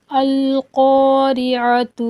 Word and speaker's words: القارعة: بسم اللہ الرحمن الرحیم۔ القارعۃ ما القارعہ، قاف پر حروف ہے، اس کو موٹا کر کے پڑھیں گے، ٹھیک ہے۔ اور پہلے والا